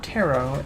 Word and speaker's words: Taro: Sunny, the leper, the scourge, the flagellant, and Taro, the occultist. We used to have Burns the Runaway, but For every miscalculation, a consequence. we don't have Burns anymore. Name isn't French, it's English. It rhymes with carrot.